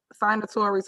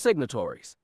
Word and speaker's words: signatories: a resolution authorizing uh signatories on bank accounts is there a motion sorry we can't let this one slide let us educate you Tiff is pronounced signatories anyway the resolution states